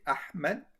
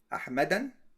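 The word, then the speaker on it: أحمد: Can I say Can I say Can I say Ahmedan? So copy this. Can I say like this? Ahmed. Can I say it like this? No. Why not? Because surf is not allowed.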